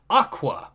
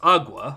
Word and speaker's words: agua: it's, and I quote, aqua, which is not even how you pronounce the word. It's agua, I'm pretty sure, right? Or no, it's... Yes, it is agua.